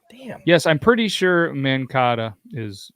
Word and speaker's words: Mankato: Yes, I'm pretty sure Mankato is like the pasta. No, it's Mankato.